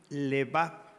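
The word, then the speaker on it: לבב: Y propósito en hebreo quiere decir levav, con acento en la A.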